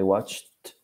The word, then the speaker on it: watched: I watched. Recuerden que nunca se pronuncia la E.